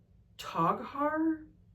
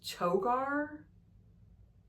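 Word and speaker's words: Toghar: Toggar or it's Toar. It could be Toggar. T O G H A R I'm gonna say Toggar and have it to where maybe the H is silent to.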